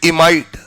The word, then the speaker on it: imide: NH पर अगर -2 charge है तो इसे हम कॉमन भाषा में बोलते हैं इमाइड। IMIDE। यहां पर भी अगर हम बात करें तो ई हटाकर क्या लिखेंगे? इमाइडो।